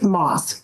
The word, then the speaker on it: Maas: They are on the record in the matter of the state of Michigan versus Moss 251225. Honor John's book 758 on behalf of Mr. Am I pronouncing your name correctly?